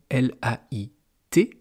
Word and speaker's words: lait: Donc vous voyez, ça se prononce de la même façon, lait, mais suivant la lettre muette à la fin, ça ne veut pas dire la même chose.